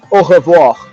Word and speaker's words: au revoir: You could say au revoir. That's like I'll see you again. Au revoir. Au. I'll break it into syllables. Au Oh, revoir. oh, voir. That's it.